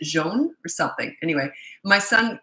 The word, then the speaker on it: John: from South Africa and his name was spelled John but he pronounced it jeon or something anyway my